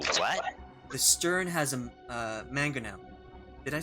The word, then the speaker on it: mangonel: the stern has a mangonel.